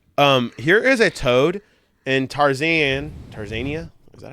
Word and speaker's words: Tanzania: Here is a toad in Tanzania. Is that how you say it? Tarzan.